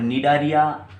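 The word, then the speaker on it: Cnidaria: और निडारिया phylum pronounce करने के समय ये सी का जो प्रोनाउंसिएशन ये क्या रहेगा बच्चों, साइलेंट रहेगा। तो प्रोनाउंस आपको कहाँ से करना है, एन से, निडारिया। ठीक है, निडारिया फाइलम के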